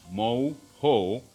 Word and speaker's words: mojo: Steak with mojo, pronounced mo-ho, is a very Caribbean steak.